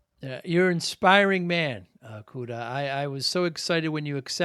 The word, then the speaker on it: Kuda: And Kuda is spelled Kuda, just like it sounds.